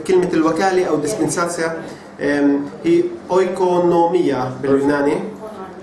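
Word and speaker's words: οἰκονομία: وهي الكلمة هنا كلمة الوكالة أو dispensatio هي oikonomia باليوناني. It's spelled O-I-K-O-N-O-M-I-A.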